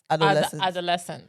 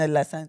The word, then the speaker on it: adolescence: But you just you just put emphasis on the adult adolesence. Adolescence. Yeah, you got put ado and adolescence. Adolescence.